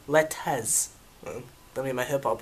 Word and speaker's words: 4LTZ: Y'all, you see the title of the video, dang on 4 letters, Letez. Let me get my hip-hop on. Letez. We don't pronounce R.